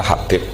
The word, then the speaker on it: Habib: Yang benar, oh enggak, yang benar itu bacanya Habib.